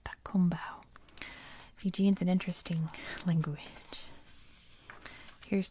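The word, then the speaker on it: Cakobau: That's how it's spelled, but it's pronounced Takumbao.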